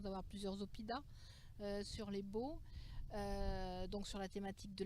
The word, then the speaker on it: Baux: de la vallée des baux c'est très important de le protéger et de le préserver n'oubliez pas les beaux et ça s'écrit baux4 6